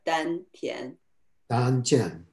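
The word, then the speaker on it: 丹田: this donchan uh yes in chinese uh this is pronounced as dan then so the korean is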